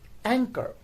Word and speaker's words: anchor: For example, we have the word anchor. In anchor, CH is placed in the middle, and it is spelled as ANCHOR, anchor.